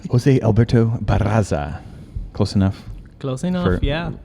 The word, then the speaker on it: Barraza: Barraza. Apologies there. I'm very notorious and for not asking how to pronounce things. Yeah, you need to practice rolling the R's before we get started. Jose Alberto Barraza.